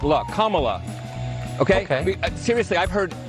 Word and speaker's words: Kamala: the whole point of her name is pronounced comma like the punctuation mark look kamala okay okay seriously i've